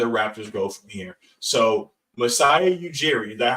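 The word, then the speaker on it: Masai Ujiri: where do the Raptors go from here so misiah eugi is that how it's pronounced yep turned OG anobi and Pascal seak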